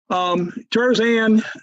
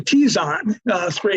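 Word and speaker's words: Terzan 3: Tarzan, actually Tizon 3 is how you pronounce that.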